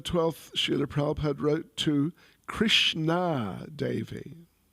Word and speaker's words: Krishna: On November the 12th, Srila Prabhupada wrote to Krishna Devi. Not Krishna, Krishna, long A.